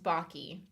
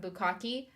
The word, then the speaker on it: Baki: So it's pronounced Baki, but I've gotten that. I've gotten Bukaki. I've gotten well, of course, whenever people read it, they just assume it's bake with like an extra K.